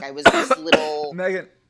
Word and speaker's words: Meaghan: spelled miegen it is it's like the most Irish way you can spell or technically pronounce that name yes right um but it is just Megan just putting it out